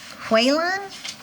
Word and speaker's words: Quan: I mispronounced it Mr whan that's no problem man the K sounds like a w Quon Quan Quan Quin qu